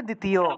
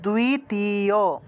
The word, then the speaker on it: দ্বিতীয়: করে এরকম হবে না দুই আলাদা আলাদা উচ্চারণ করলে হবে না একসাথে উচ্চারণ করতে হবে দুই দ্বিতীয় তারপর দেবাসিয়া